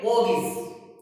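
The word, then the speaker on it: mortgage: जैसे हम बात करते हैं मोगिस, इसमें देखो R भी है वो भी साइलेंट है और टी भी साइलेंट है, तो इसको हम कैसे पढ़ेंगे मोगिस।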